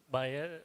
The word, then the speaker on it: Bayer: Sangita she represents a buyer Bayer how do you pronounce ma'am beer is good beay is good I see so it says that it both buyer as well as beer stands corrected so